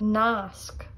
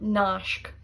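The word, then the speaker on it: nasc: Nask, nask, which means link. It's not nashk, nask.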